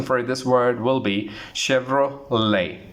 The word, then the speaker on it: Chevrolet: We say Chevrolet. Chevrolet, it's incorrect. The correct pronunciation for Chevrolet, T is silent in this word, so the correct pronunciation for this word will be Chevrolet. How do you pronounce? Chevrolet is the right pronunciation.